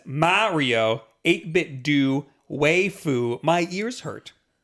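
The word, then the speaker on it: 8BitDo: it is waifu yeah so we're wrong yeah 8-bit do is how you pronounce it yeah according to them it looks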